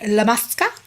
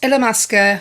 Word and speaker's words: Illamasqua: So moving on to the next product, this is the Hydra Veil by Illamasqua. I believe that's how you say it. I remember how to say it by thinking of a llama.